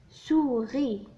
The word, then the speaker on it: souris: souris. souris. le S هنا لا ينطق.